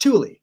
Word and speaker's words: Thule: That word is pronounced Thule.